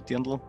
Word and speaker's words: Dirndl: And for women, we have the Dirndl, well, Dirndl, if you would pronounce it in the German way.